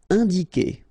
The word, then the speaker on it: indiquer: All right, keep in mind that when you get this Q and U after, and obviously a vowel, then U is not pronounced at all. Okay, so it's K here. You don't pronounce the U.